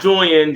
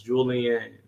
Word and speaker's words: Julian: so what's up y'all not joining julian three syllables julian better like i